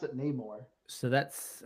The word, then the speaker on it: Namor: Everyone pronounce it Namor.